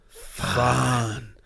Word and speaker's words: Fandango: Fandango. You didn't say it properly. Sorry, I tried to halfway through. Got to emphasise it more. Fandango.